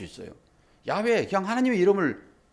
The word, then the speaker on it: 야훼: 그리고 이 발음은 아주 대한 발음인데 야훼 이런 발음을 합니다. 이게. 그래서 야훼라고 하는 거예요.